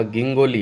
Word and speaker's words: गिंगोली: में लड़ा गया था जिंजो नहीं है अच्छे से इसको देखे तो य ऊपर लिखा गिंगोली है इसको क्या य जी का प्रोनाउंस है इसने ज से कर दिया बाकी ग से होना य गिंगोली का युद्ध